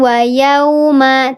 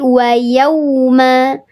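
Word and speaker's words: يَوْمَ: Bukan au tapi au pakai W. Ini juga pakai W. Yau. Yau. Bukan yau. Wuma bukan wayuma tapi yauma. Wayauma gitu ya.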